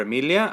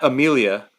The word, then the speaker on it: Emilia: I told her like I want our daughter's name to be Emilia, not Amelia, Emilia, Mm-hmm. and I want her to say her name Emilia, right? Like not Yeah, Amelia, not Amelia.